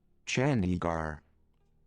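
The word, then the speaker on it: Chandigarh: let's look that that real quick how to pronounce here we go ready YouTube teach you everything chandigar uh chandigar okay look this person mentions down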